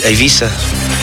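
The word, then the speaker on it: Eivissa: we'll be here the proper way to pronounce it be Ino is Aisa that's and it's spelled e v i s a IA that is I you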